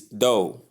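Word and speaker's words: dough: Number three is do. The spelling is d o u g h but the pronunciation is do the and o sound.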